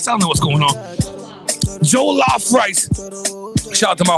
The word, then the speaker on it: Jollof: I want to get that Jolo rice. Am I even saying it right, Lorena? It's called Jolo rice? I don't know what's going on. Jollof rice.